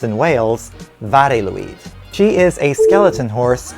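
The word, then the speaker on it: Mari Lwyd: welsh tradition of mary louise or as it's pronounced in wales vareluid she is a skeleton horse or more technically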